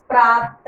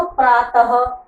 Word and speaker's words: प्रातः: हम यहाँ पर हा नहीं लगाते, लेकिन हा का उच्चारण आता है, उसका साउंड आता है। तो प्रातः, अतः ये विसर्ग होते हैं।